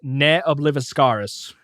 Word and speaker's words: Ne Obliviscaris: An Australian extreme progressive metal band, and apparently it is pronounced N Oblivcaris.